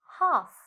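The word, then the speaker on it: half: ஹாஃப். ஹாஃப்ண்டா அரைவாசி. ஹாஃப்ல எது சைலண்ட் லெட்டர்? எல் தான் சைலண்ட் லெட்டர். என்ன நாங்கள் ஹால்ஃபண்டா சொல்லுவோம்? இல்லை, ஹாஃப்ண்டு சொல்லுவோம்.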